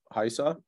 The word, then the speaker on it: Raisa: And you should at some point connect with our team members, Haisa. It is spelled Raisa, but it is pronounced Haisa.